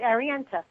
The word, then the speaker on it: Arienta: Now, Arienta, Sahvanna, first I want to ask you, did I get the pronunciation right on the name? You did, Arienta. Arienta, perfect.